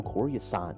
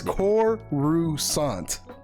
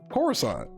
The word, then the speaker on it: Coruscant: Corey it was on Corey Assad like you know like I'm going to teach you how to pronounce this damn planet's name it's core rousant what Coruscant I just said that